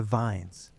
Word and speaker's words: vin: You see, in Old Norse, the word vin with a short I means pasture or meadow.